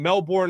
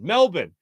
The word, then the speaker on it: Melbourne: selling he was saying Melbourne Australia and Australia is like it's Melbourne it's pronounced Melbourne Melbourne and it's like and